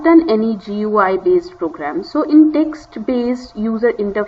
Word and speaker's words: GUI: most of the modern programs they use gui pronounced as gui gui this is pronounced as like this so g